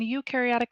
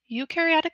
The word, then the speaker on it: eukaryotic: So today we're going to be learning about prokaryotic and eukaryotic cells. Eu rhymes with you.